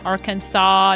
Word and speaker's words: Arkansas: Arkansas not pronouncing the s at the end.